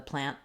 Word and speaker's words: plan: long it's fairly short versus when I'm saying plan plan my end can last because it's the final sound of the word that's the plan versus